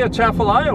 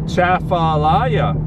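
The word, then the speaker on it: Atchafalaya: over the lower chapter of alaya river say a chaffelaia with me uh chaffalaya now spell it in your mind while i look at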